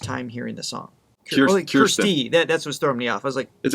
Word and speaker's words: Kirsty: Kirsty. That's what's throwing me off. I was like, is it Kirsten or Kirsten? They said it rhymes with thirsty, Kirsty.